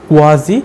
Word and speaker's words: quasi: তাই এটার সঠিক উচ্চারণ কোয়াজি প্যাসিভ। এই প্যাসিভটা করতে গেলে আমাদের